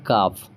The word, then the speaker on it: calf: तो CALF है, यहाँ पे एल यहाँ पे किससे पहले, एफ से पहले। रूल क्या कहता है, अगर एफ से पहले एल रहेगा तो भी आपको एल प्रोनाउंस नहीं करना है, आप इसको पढ़िएगा काफ, ठीक है।